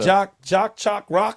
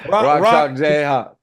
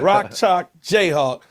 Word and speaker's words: Rock Chalk Jayhawk: How you say it? Jock Chalk Rock or something like that? Give it to me. Rock Chalk Jayhawk. Yeah. Rock Chalk Jayhawk.